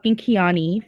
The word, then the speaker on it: Keani: So, thank you CT for saying my name wrong. It's Keani, first of all.